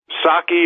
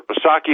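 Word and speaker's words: Psaki: how bad it is next biden hack jen saki or posaki harbor she pronounces it trashes president trump for policies and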